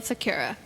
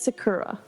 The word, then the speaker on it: Secura: besiege Jedi General Aayla Secura. Anakin. How do you say Sakura? Secura. They said Sakura. And I was like, Sakura. Sounds like tempura.